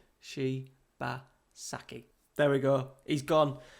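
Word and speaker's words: Shibasaki: She-Ba-Saki. She-Ba-Saki in Yorkshire. She-Ba-Saki.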